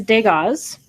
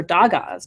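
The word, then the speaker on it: Dagaz: the next one is Degas or dog Oz depending on how you pronounce that this is Degas or dog Oz and that means Day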